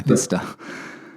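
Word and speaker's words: Bicester: You went to the Scramble, Bista. I got it right, didn't I? Bista.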